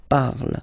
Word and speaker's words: parle: ending e, and then the way to pronounce it is je parle, parle. So remember, we put it, okay, but then we don't really pronounce it, je parle, okay.